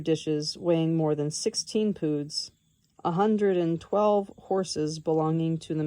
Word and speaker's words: pood: Um footnote pood rhymes with food.